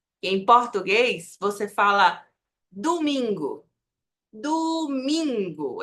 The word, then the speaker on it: domingo: muito comum que viri no espanhol não tem essa mudança então a pronúncia aqui do dia da semana é domingo domingo sempre o domingo aqui tenemos oosso nka